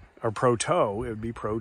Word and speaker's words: Proto: uh how about Proto Proto is actually Pro Tools well that'd be Pro 2 which is actually how it's spelled Proto would be like Pro toe or t-o-w or something like that it wouldn't be Pro